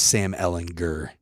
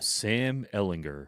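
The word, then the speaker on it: Sam Ehlinger: It is Sam Ellinger. Hard G, not a J. Sam Ellinger.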